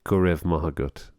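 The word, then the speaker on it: go raibh maith agat: Gorev Mahagut.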